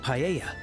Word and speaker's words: paella: And mine is the seafood paella. Paella. So, you don't even pronounce the L.